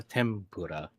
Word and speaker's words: tempura: Do you pronounce Do you pronounce it as tenpura or tempura? T with the M.